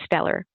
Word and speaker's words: STELLAR: So in thinking about that, places like the University of Central Oklahoma, they've developed this student transformative learning record, pronounced STELLAR.